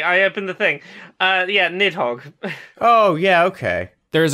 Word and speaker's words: Nidhogg: the neat hog ah maybe there's an R in the Norse transliteration maybe nit Hara but the video game which features this creature prominently just called nidhogg so we'll probably with that pronunciation mid Hawks five that's